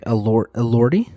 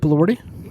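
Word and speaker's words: Elordi: um the Frankenstein's monster to to I think Allory. Is that how you pronounce his last name? Jacob. Jacob Allorti. Yeah. Yeah, that sounds right.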